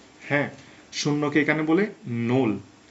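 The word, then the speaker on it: null: প্রথমত হচ্ছে শূন্য কে এখানে বলে নোল হ্যাঁ শূন্যকে এখানে বলে নোল নোল কিভাবে এন ও এল এল নল বানানগুলো মনে রাখার একটু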